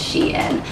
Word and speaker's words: SHEIN: called she and I think that's how you pronounce it is she and I was saying like Shen or something but on the website it's like